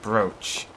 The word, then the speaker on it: brooch: and also find out why broach is pronounced brooch as i try to